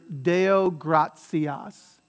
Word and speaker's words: Deo gratias: preface dialogue and then here's our ti followed by a vowel so there's your deo gratzias gracias right csi deo